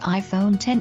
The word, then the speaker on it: iPhone X: shipping later than expected The iPhone X or iPhone 10 as it's pronounced is the first try